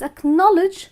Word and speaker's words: acknowledge: C is silent and it's a knowledge where again C is silent so well that was